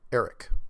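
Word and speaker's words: Arek: Eric, but it's spelled A-R-E-K.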